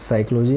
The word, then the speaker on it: psychology: तो जैसे कि मैंने बोला, आपको समझ में भी आ गया होगा कि साइकोलॉजी में जो वर्ड साइलेंट रहता है वो है P, तो इसमें राइट ऑप्शन होगा P, ठीक है।